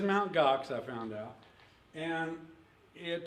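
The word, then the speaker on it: Mt. Gox: I was sophisticated myself I kept pronouncing this until yesterday Mountain gue I guess I beat you I thought GOx I mean that sounds like a Klingon dish or something but it is mount GOx I found out and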